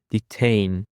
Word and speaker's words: detain: Now guys for the last word we have detain. Detain. The stress is on the second syllable.